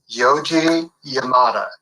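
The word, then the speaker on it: Yoji Yamada: check out how do you say his name yoi Yamada right yoi Yamada oh excellent excellent and so um you know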